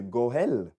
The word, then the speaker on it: goël: Par introduction, j'ai dit, les droits des rachats ou les Goël, peut-être que je les prononce mal, G-O-E comme dans Noël et L en hébreu, Goël.